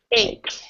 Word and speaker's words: ache: And remember, with this word, even though you have the CH, we actually pronounce it like this. Or either like this or like this, depending on what language. Okay. So ache.